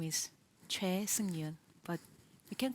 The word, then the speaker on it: Choi Seung-yoon: just please tell me your name as you pronounce it right my name is CH Yun but you can call me Yun yeah thank